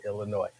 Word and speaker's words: Illinois: don't touch me um there is no s sound at the end of Illinois I know but some